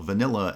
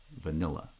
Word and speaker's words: vanilla: case of vanilla well vanilla is actually two light syllables english spelling has a double l the two letter ls but in fact in in pronunciation there's only one l uh the the syllables